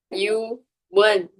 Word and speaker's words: Ewan: is Yuan, which is spelled EWAN and pronounced Yuan.